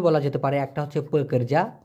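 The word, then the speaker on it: pekerja: শ্রমিক, শ্রমিককে দুইভাবে বলা যেতে পারে, একটা হচ্ছে পেকরজা, প কর যা, উচ্চারণটা হবে প কর যা, অথবা কুলি বলতে পারেন।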